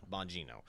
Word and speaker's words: Bongino: Bongino.